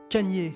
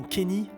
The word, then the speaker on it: Kanye: Kanye, et non Kenny, Kanye. Oh, I'm from Ohio. We say Kenny. That's how we pronounce it. Well, I don't care where you're from. You pronounce my name Kanye.